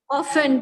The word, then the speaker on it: often: Often, T is silent.